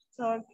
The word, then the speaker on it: soldier: Sí, sí, no se pronuncia como se deletrea.